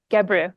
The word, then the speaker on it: Gebru: Joy Buolamwini, who worked with Timnit Gebru on the, I have Timnit's Gebru. last name wrong. Gebru. Gebru. Yes, thank you, sorry. I thought that didn't sound right.